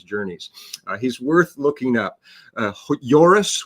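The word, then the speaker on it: Joris: he's worth looking up yurus which is spelled with a J and then Hof nugle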